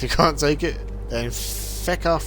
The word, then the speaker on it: feck: Only the Irish say it like that. Actually, no, they say feck. F-E-C-K, not even fuck. The Irish go, feck off.